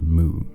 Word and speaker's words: MW: an obscure manga called moo and going into the parallels it shares with noi rabas monster and yeah I know it's spelled MW but Wikipedia says the pronunciation is Moo so I don't know what